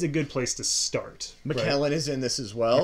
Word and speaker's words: Macallan: Macallan is in this as well.